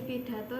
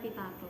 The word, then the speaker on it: pidato: Penampilannya sudah bagus, sudah percaya diri, tapi tadi masih ada cara pelafalan teks cerita yang salah. Seperti tadi pidato dibacanya pitato. Oh, iya.